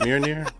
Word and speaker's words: Mjolnir: Mjolnir.